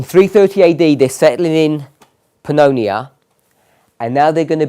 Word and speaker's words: Pannonia: is that's my pronunciation pan Ania is that correct no Pannonia that sounds about Pannonia